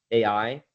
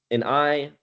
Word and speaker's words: Ai: Um, and so the most notable stories of this are Jericho and AI, and or it's pronounced I, but it's spelled AI.